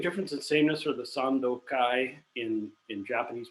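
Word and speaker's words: Sandōkai: text with the same name kanton ki or pronounced in japanese would be sandokai which is a taoist text from 600 years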